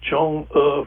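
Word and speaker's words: Chang'e: make sure i tried to pronounce it right as chong er five that it's been making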